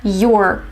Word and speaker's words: you're: So instead of saying you are, you would hear your, just like your, for example, your friend, your house, your book.